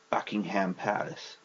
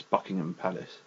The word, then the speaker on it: Buckingham: with bucking as well it's not Buckingham Palace it's Buckingham Palace the last one which